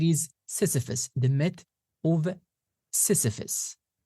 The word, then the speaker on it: Sisyphus: Again, as I said before, it is Sisyphus, the myth of Sisyphus.